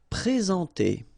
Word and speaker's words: présenter: Okay, remember when we get this accent aigu like that on the top of sorry, then you should pronounce it e. All right, and then you combine the two en nasal en.